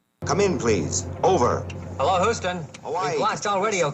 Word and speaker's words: Houston: Now, if he'd been in New York, right, if this had been a New Yorker, he would have said Houston, because that's how Houston Street's pronounced, spelled the same South way. of Houston, yes. But Houston, I've never heard that.